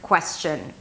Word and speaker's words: question: So this word has two syllables, and in every word there is one syllable that sticks out the most.